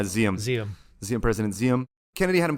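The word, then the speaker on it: Diệm: South Vietnamese government president DM I don't know if you might know how to pronounce that better than me is it some people say xiamen ZM yeah ZM President xiom Kennedy had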